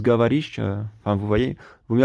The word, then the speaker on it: говоришь: Du coup, quand je vois Govoris, alors que ça se prononce Gavarish, enfin, vous voyez, vaut mieux apprendre l'alphabet cyrillique directement comme ça et pas s'aider de l'alphabet latin, quoi.